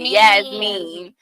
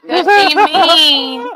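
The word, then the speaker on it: Yassine: my name right because my name is yasine but the way it's spelled it's with two e so they always say yes mean and I'm just like she mean that's not has two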